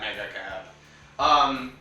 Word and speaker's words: Mega Cab: When you say Mega Cab, you have to say it like that, Mega Cab.